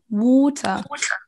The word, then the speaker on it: water: Vous entendez, il n'y a pas de A et on n'entend pas de R.